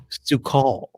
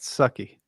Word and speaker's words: Su'Kal: season three episode 11 su-call so um i think it's pronounced sucky oh showing your hand